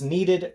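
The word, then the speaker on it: kneaded: really wanted to introduce you to was this needed great eraser needed not like you need an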